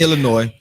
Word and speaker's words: Illinois: in evanston evanston uh illinois and they illinois the s is silent illinois patois uh in illinois